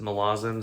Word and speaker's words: Malazan: back to malazan uh or malazan i know erickson pronounced it malazan so we'll go with malazan i guess um really